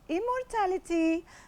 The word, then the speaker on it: immortality: today's song is entitled Immortality by Celine Dion. Right, let us explain the title. Well, it's a noun that is stressed on the third syllable.